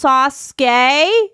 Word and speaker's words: Sasuke: for today, was like, you actually pronounced his name wrong. It's not. It's actually not. It's Sasuke.